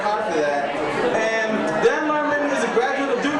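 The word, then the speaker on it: Lehrman: funny young guy Dan L Herman he says don't pronounce h in his name but God damn he's getting it cuz his mama worked hard for that and Dan lurman is a graduate of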